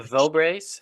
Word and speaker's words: Vograce: lanyards um I use vog Grace um they're vograce how do you spell that uh v o g r a CE